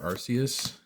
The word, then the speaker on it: Arceus: Also, how do you say Arceus? Do you say Arceus? Do you say Arceus? Do you have some other unique way that you say it? As you heard, I prefer Arceus.